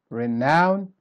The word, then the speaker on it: renown: Then renown, here's the opposite. So you start weak and then you go strong. Renown. And here is how we pronounce all of the words in Unit 9, Vocabulary Level C.